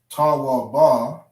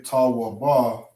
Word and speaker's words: tawab: So instead of saying ta wa ba, we drop the syllable of the ba. Okay? We drop the syllable of that last character that's connected. So we don't say ta wa ba, we say tawab.